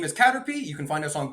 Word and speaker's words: Caterpy: online, our name is Caterpy. You can find us on Google, Instagram, Facebook, TikTok. It's spelled Caterpy. Sounds like the Pokemon Caterpie, but with a Y instead of PIE.